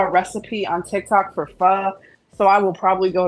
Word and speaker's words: pho: Like earlier, I saw a recipe on TikTok for pho, so I will probably go to the Asian